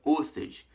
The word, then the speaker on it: Ørsted: E hoje eu vou falar com vocês sobre Hans Christian Ørsted.